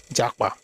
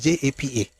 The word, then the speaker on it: Japa: We don't have KP. Pomo, Jakpa. There's no KP, it's JAPA.